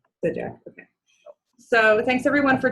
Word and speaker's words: Sygdziak: In case you're wondering how to pronounce that, did I pronounce it correctly? That was pretty good. Okay, how do you say it? Sygdziak. Sygdziak, okay.